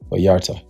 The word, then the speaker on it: Vallarta: Vallarta.